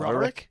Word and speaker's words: Roderick: It'll be three. Well, if no one says it like that, though. Roick. Roderick. Yeah, that's how you're meant to say it. Roderick. People say Rodri. No one says Roderick cuz no one's called Roderick.